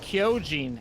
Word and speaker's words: Kyojin: It's pronounced Kyojin, actually. If you ever watch Attack on Titan, Shinjeki no Kyojin, just have to make